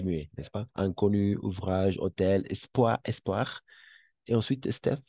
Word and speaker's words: hôtel: oui ce nouvel nouvel hôtel n'est-ce pas hôtel qui commence par une h muet n'est-ce pas h mué hôtel ce nouvel hôtel très